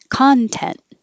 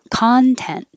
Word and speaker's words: content: spelled the same but if the stress is on the first syllable it's a noun excuse me content content if the if it's a verb the stress is on the second syllable no this is an